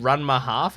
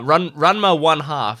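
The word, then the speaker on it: Ranma ½: don't know what it's I don't know if it's called RMA half is that how you pronounce it uh R RMA one half is apparently how you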